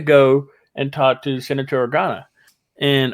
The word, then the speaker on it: Organa: and talk to Senator Organa, and Organo. Or have I been saying it wrong? I think I said it wrong. No, you said I think I said Organo earlier.